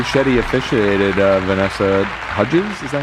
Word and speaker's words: Hudgens: Shetty officiated Vanessa Hudgens. Is that how you say it? Hudins.